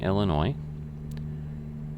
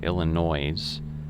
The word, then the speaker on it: Illinois: And, you know, you could almost say it's kind of got like a French ending, like, well, like Francois or stuff like that.